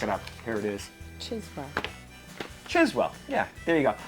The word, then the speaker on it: Chiswell: So my New England accent, putting R's in where they don't belong and dropping them where they do belong. I was saying Criswell, but it's obviously not that, so look it up.